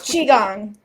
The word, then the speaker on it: Qigong: Maybe I mispronounced the... It's Qigong.